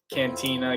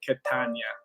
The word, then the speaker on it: Catania: they'd always they don't my last name has always been butchered cantina catania it's like catania fred what's going on